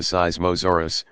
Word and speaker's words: Seismosaurus: these dinosaurs were the seismosaurus pronounced syz masoor us and supersaurus the seismos